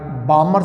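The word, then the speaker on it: Balmer: है ये देखो मैं बामर शरी की बात कर रहा हूं यस बी ए एल एमई आर L silent है बामर सीरीज तो आपने कहा सर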